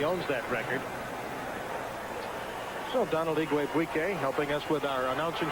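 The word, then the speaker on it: Igwebuike: So Donald Igwe-Buike helping us with our announcing school practice on pronouncing his name.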